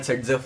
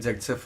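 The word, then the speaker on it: Saytzeff: Tension नहीं है, there is a rule called सेट्जेफ rule, also pronounce eight जेट्सेफ rule.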